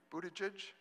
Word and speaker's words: Buttigieg: I'm going to try to pronounce it, Pete, one time, and then from then on it's Mayor Pete. Buttigieg?